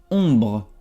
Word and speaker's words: ombre: Bueno, el primero va a ser ombre. Ombre. Aquí OM se pronuncia on.